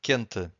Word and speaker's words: quente: But if you have Q-U-E, the U is silent. Quente.